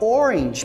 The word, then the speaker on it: orange: manager Manager a palavra Orange por exemplo também tem essa situação na pronúncia Então esse o segundo a da palavra Orange ele é pronunciado como se fosse I Se você prestar bastante